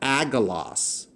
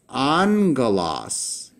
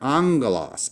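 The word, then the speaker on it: ἄγγελος: You would pronounce this angelos "ong-gah-loss." Because the first gamma here is pronounced with a n-sounding letter. So that's the word we get the word angel or messenger. angelos = "On-gah-loss," "on-gah-loss."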